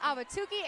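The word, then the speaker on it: Ahwatukee: I'm from Arizona I should get that right auki Arizona I only said it right because she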